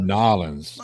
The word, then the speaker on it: New Orleans: If you were from New Orleans as a Cajun, you would have said Nolans.